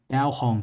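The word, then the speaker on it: Baohong: i swapped over now to this brand called bauhong so it's it's spelt b-a-o-h-o-n-g so they're a paper company and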